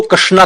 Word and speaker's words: कृष्ण: जी आप समझने का प्रयास करें जो अक्षर है जो नाम है वो है कृष्ण। सही तरीके से शुद्ध उच्चारण कृष्ण का नाम भी नहीं बोल पाते।